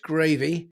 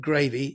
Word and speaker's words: Graeve: If people want to get hold of you, uh it's a bit confusing because you call yourself Data Coach Gravy. Uh, but that's because of your surname.